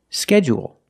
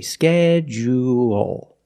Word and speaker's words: schedule: about this word because it has two different pronunciations some people stress the first syllable only and some people stress both syllables if you stress both syllables you say schedule schedule and you say